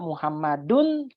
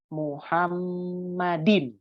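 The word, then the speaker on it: مُحَمَّدٍ: maka si Muhammad itu nggak dibaca muhammaddun tapi dibacanya Muhammadin dibacanya Muhammadin kalau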